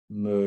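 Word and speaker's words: μ: say honey excuse me uh mew for honey yeah i guess we pronounce that mu you okay mu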